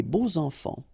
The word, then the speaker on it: beaux enfants: And here it's quite interesting because even if you've got this X, well, phonetically it will be like Z, so like if it would be an S, okay? Les beaux enfants, all right?